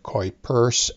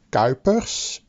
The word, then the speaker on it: Kuiper: was me who was complaining about how you guys were pronounced the words quite purse and Hogan's so here you go this is the correct way of saying it it is gopis and Hogan's love your show this